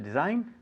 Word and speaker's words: design: uh to design uh-huh to design very easy with a silent g because you said the